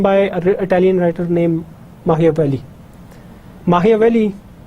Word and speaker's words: Machiavelli: Machiavelli or Machiavelli, it's pronounced like that.